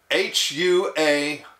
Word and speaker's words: Huawei: might have forgotten by now it is spelled h-u-a-w-e-i and pronounced Huawei Huawei makes smartphones and other consumer